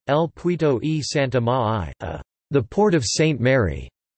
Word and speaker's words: El Puerto de Santa María: El Puerto de Santa María, Spanish pronunciation, El Puerto y Santa Ma'ai, the Port of St.